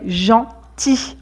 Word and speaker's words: gentil: On ne dit pas gentil quand c'est au masculin, mais gentil. On ne prononce pas le L.